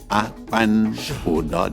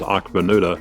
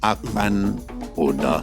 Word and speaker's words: Akpanudo: Akpanudo. The K is silent. Americanized as Akpanudo, Right. but the real way to say it is Akpanudo.